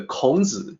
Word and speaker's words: Kǒng: And you see the pinyin is closer to the Kǒng, the way it actually sounds in Chinese, in Mandarin.